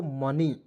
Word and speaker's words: money: यहाँ आप देखेंगे MO, देखिए एम से लिखेंगे म, ओ है दोस्तों, इसका उच्चारण इस तरह करेंगे ओ के रूप में। एन से लिखेंगे न, और अंतिम में वाई है दोस्तों, उसका उच्चारण हो जाएगा बड़ी के रूप में। क्या हो जाएगा दोस्तों? मनी।